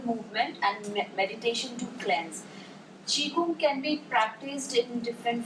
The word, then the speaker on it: Qigong: Uh, it's though it's spelled Qigong, it's pronounced as Qigong, and it's a Chinese.